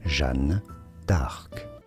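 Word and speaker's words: Jeanne d'Arc: and figures speculated to be Caesar, Napoleon, and Jean Dark. I have to check the pronunciation of that. Did the channel, how do you say it in French? It is pronounced as Jean Dark.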